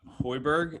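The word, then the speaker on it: Højbjerg: his attitude and stuff he brought in uh hoiberg is that how you say it yeah yeah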